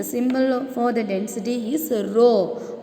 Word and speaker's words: rho: The symbol for the density is rho. What is the pronunciation? RHO. Rho.